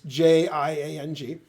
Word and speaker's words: Jiang: His name is Andrew Jiang, and I'm pronouncing Jiang wrong. If you're, Chinese, it's Jiang.